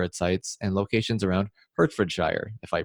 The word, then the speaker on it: Hertfordshire: And you did pronounce that wrong, Brandon. That's Hertfordshire.